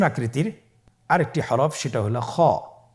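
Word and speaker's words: خ: ছবিতে দেখুন খ হরফটি কীভাবে উচ্চারণ করতে হবে। খ হরফটির মাখরাজ হলো কণ্ঠনালীর শেষ ভাগ হতে উচ্চারণ করতে হয়, কণ্ঠনালীর শেষ ভাগ।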